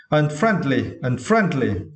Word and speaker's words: unfriendly: Okay, for the second syllable, we need to stress, right? Friend. Okay. Unfriendly.